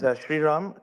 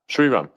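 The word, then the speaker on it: Sriram: assume your V on Origin how do you pronounce his name correctly yes sir his name is shiram Krishna shiram okay good shiram um you said that heing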